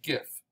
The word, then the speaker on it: GIF: it like the peanut butter jif but because it stands for graphic interchange format and graphic has a hard g i usually say gif it's going to go